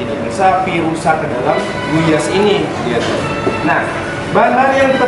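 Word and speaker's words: gulyás: Tapi L-nya tidak dibaca, bacanya Guyas.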